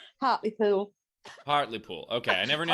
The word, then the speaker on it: Hartlepool: Rebecca, it's Hartlepool, right? Hartlepool. Hartlepool. Okay, I never knew how to Hartlepool.